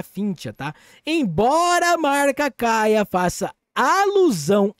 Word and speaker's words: Kaia: citen finch ela também deriva da palavra grega para e que seria a pronúncia cai reforçando ainda mais nossa crença No Poder da conexão web3 Além disso cai a ressoa fonética com Gaia a antiga deusa grega da